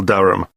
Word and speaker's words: Durham: How do you spell Durham?